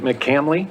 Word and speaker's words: McCamley: if i mispronounced it is it mccamley mccamley thank you very much mchandley